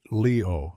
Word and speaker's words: Leyon: He pronounced it Leo, like the star sign.